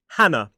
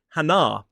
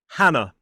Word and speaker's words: Hannah: A-N-A, with the schwa at the end. Hannah. It is not Hannah. So 2 syllables, stress on the first. Hannah.